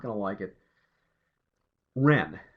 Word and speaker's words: Whren: not gonna I get rent like the little bird except the rent is spelled wre and this guy's name was Ren wh re n this is a DC